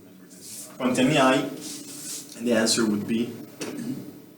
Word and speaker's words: hai: to have, avere, and you see that here a little nasty letter appears, but you do not pronounce it. You do not pronounce it. It's mute. It's always mute. Quanti anni hai?